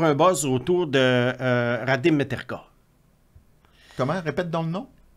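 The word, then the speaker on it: Mrtka: buzz autour de Radim Mertka. Comment? Répète donc le nom. Mertka. Radim Mertka. Mertka. Mertka. Mertka. M-R-T-K-A. Okay. Mertka, on prononce comme s'il y avait un E.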